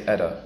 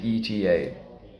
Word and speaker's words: ETA: specify specify ETA ETA remember we don't say Etta we say ETA estimated time of arrival